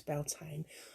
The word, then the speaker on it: Beltane: the other week and someone referred to it as beltaney or something like that and they sort of pronounced it different and i said to a friend afterwards that was a different spelling and pronunciation of beltane and uh because the